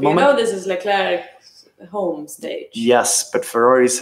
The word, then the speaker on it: Leclerc: If we have Germans, I'm sorry that I put Vettel behind Leclerc.